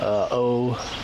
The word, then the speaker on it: Ouija: O-U-I-J-A? I think about it in French. Because oui, O-U-I, yes in French. Ja. Oh, that's a Ouija.